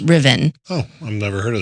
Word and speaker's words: Ruthven: It's actually spelled Ruthven, Ruthven, Ruthven, but it's pronounced Ruthven.